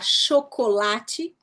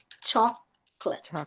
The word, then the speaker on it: chocolate: Então, em vez de falar chocolate, você vai falar chocolate, chocolate. Então, uma palavra que em português você tem 4 sílabas, em inglês ela diminuiu para 2 sílabas.